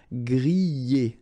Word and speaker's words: griller: This combination of two letters, R at the end, will give you the sound E, all right?